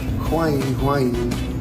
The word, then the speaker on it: Wang Yuling: Welcome, Huang Yuling. That's how they say it in Chinese.